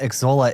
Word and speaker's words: Xsolla: So, I want to start at the top about what Exola is.